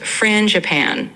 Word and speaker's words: frangipane: croissants, rich pain au chocolat, and even a frangipane croissant filled with almond cream. Sorry, how do you pronounce that one? The franja... Yeah, no problem. It's pronounced frangipane, so kind of like frangican.